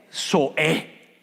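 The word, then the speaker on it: ζωή: tanto adultos como niños Cómo se pronuncia vida en griego soe soe soe en e e la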